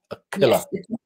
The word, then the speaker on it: Aquila: your name yeah yeah it's a heart sound that resonates in the throat a killer thank you thank you